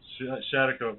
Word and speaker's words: Schaghticoke: He's sachem of the Schaghticoke. Did I pronounce that right? Hawk. Yes, Schaghticoke, yes.